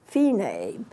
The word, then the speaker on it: Fine: F I and E like fine but it's pronounced fee name you have to get the pronounce you pronunciation